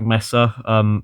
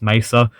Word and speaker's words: Mesa: like um half-life has the black messer i'm not pronouncing that correctly it's mesa um fan remake done